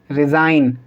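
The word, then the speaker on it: resign: से पहले जी है, तो इसको हम क्या पढ़ेंगे? डिज़ाइन, कैंपेन, रिज़ाइन और साइन। ठीक है, तो इन सभी के अंदर जी साइलेंट है।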